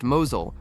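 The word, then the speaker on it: Mousehole: Tiny mouse hole pronounced Mosul was watching its football club gamble every away match on torturous lane journeys that snapped axles and dented exhausts.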